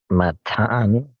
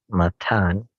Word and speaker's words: Matthan: Eleazar, and Eleazar begot Matan, as spelled Matthan, Matan, and Matan begot Jacob.